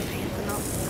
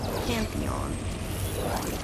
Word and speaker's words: Pantheon: except maybe literally all the gods of the panon oh is that how you pronounce it panon panon pan pan P Pantheon yeah hell little mouse you should should show